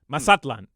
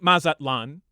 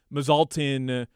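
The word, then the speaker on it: Mazatlán: just said masatlan well that's how it's pronounced in in Spanish right in Mexico would be masatlan and um you can say Mazatlan which was fine like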